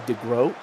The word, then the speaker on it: De Groot: I think it's actually technically De Groot. Uh Oh my god. Player is Dutch.